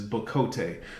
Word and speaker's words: bocote: And from all the research I did, that's my understanding of how you pronounce it, is bocote.